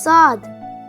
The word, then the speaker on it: ص: Arabic alphabet is s it sound is similar to scene but it is pronounced thicker let's watch s hi my name is sad s s s for your understanding you can spell sod in English as s a w d s it sounds like the English word saw saw saw how to